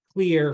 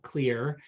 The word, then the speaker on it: Kleer: I want to make sure that I thank clear for introducing group Dentistry now to Samantha she's